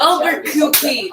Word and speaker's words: Albuquerque: 96 on Friday, and then Albuquerque. That's how you pronounce it.